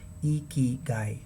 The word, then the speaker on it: ikigai: in our day-to-day language the right way of pronounciating iki guy is iki guy so as you can